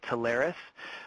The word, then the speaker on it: Taris: of a company called Taris um lots of people pronounce lots of different ways but we we choose to pronounce it tari um as you you